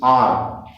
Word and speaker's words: hour: The spelling is HOUR, but the sound is R.